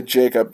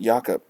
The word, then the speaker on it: Jacob: yaka markstrom to Calgary I always want to say Jacob I guess he is Swedish so I guess they pronounce it yakup cuz I know with